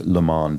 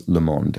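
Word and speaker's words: le monde: is pointing out that I mispronounced I said I think I said something like leand or something like that when I was referring to the world in French it is leemond and I yes I was not was not speaking with a proper French pronunciation in that case and finally Dragon traces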